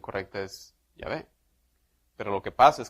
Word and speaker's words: Yahvé: Hoy ya sabemos, teniendo más estudios históricos, que más bien la pronunciación correcta es Yahvé.